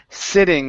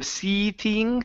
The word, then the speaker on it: sitting: go to the word sitting this is a short I instead of seting it's sitting sitting I was sitting at